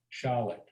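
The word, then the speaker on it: Shlit: wow, That was Jack Charlotte, and Charlotte is spelled S-H-L-I-T, Charlotte. oh, okay. I thought you said- Sounds like Schlitt.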